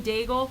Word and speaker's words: Daigle: I was saying it wrong before, Diago. It's Lauren Daigle.